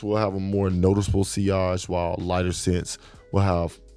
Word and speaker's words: sillage: Now, sillage, pronounced sillage, is a French word for the wake of a ship in the water.